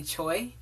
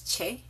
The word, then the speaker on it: Choi: Top is, in the video you can see me say Choi, or something like that, because I didn't understand Korean and I didn't know how to pronounce his last name at the time. I'm slowly getting into it, and I think it's Che. Please correct me if I'm wrong.